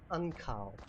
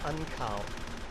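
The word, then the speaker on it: ankaŭ: written down below um it's got like a little U with a Mini U above it just think of a w sound okay so whenever you see that little U with the U above it it's just a w I just got to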